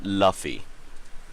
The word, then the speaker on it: Luffy: So it's pronounced as Luffy, by the way.